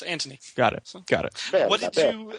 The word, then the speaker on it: Antony: No, there's no H. It's Antony. Oh, Anthony. A-N-T. Anthony. It's more Italian. It's Antony.